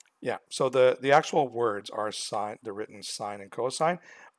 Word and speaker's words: sine: So now when you go into grade 11, please don't say this is the sin ratio. This is sine. Okay, it's just a short version of sine, so it's the same word.